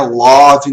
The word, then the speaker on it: love: Love, não. Love. Give. Olha a pronúncia. Presta atenção que o E no final das palavras geralmente não tem som.